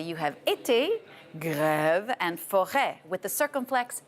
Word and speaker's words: grève: As for the accent grave, it's more, you pull down your mouth a little bit, grève, like a strike, grève. Grève, as opposed to été.